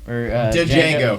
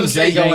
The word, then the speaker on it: Django: So, I don't think he's actually seen it because there's an entire scene in the movie about how the D is silent.